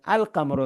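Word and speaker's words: القمر: കമറി letters എന്ന് പറഞ്ഞാൽ കമറിന്റെ കൂടെ അൽ വന്നാൽ അൽ ഉച്ചാരണം ഉണ്ട് ഇല്ലിന് ഉച്ചാരണം ഉണ്ട് അതുകൊണ്ടാണ്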